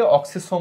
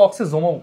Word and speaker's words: অক্সিসোম: এদেরকে অক্সিসোম বলা হয়, অথবা অক্সিজোমও উচ্চারণ করতে পারো, সমস্যা নাই।